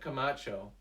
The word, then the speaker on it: Camacho: pretty cool um anyway kamacho is that how you say it camacho that's right camacho's camacho uh he's